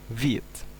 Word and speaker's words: Vite: Ini bukan Vite, tapi ini dari bahasa Perancis yang artinya fast. Jadi dibacanya Vite.